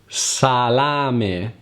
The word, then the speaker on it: salame: When a word ends with the vowel E, which in Italian is E, you have to pronounce it like it's written. And don't pronounce it like an Italian I.